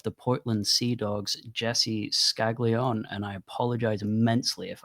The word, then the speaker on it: Scaglion: Um, we are joined by the general manager of the Portland Sea Dogs, Jesse Skagleon. And I apologize immensely if I've got that name wrong.